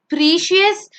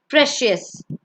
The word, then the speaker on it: precious: It's not precious, it's precious.